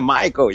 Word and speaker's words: Miko: Eh bien, écoute, Miko, comment on prononce vraiment Miko ou Maiko? Miko. Non, Miko. C'est Maiko, yeah.